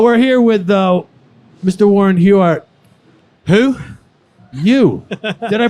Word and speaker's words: Warren Huart: that's incredible oh we're here with the Mr Warren huart who you did I pronounce it right you did yeah okay I